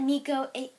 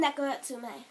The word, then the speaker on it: Neko Atsume: No, it's that Nico...